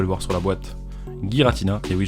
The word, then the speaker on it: Giratina: voir sur la boîte, Giratina, et oui je le prononce Giratina et non pas Giratina, c'est comme ça que les katakana le décrivent sur les cartes, de toutes les façons.